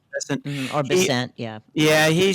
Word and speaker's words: Bessent: Bessent. Bessent.